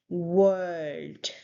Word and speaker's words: world: Now the next word is world. So again, w sound instead of v sound. World. So there is soft R sound and then read.